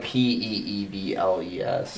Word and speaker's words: Peebles: But Peebles it's like Peebles. Mhm. I think you could pronounce Pebbles for Peebles. Everybody calls it Pebbles. It's just so wrong.